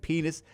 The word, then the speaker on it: Pinis: know how you omit that's his name that's how it's pronounced i don't know how else we took a look at the player that is here on our side of the screen whose name is spelled p-i-n-i-s he it just so happens